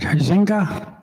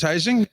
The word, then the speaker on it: Huizinga: I hope I pronounced this right, Huizinga? Huizing. My name is Heising.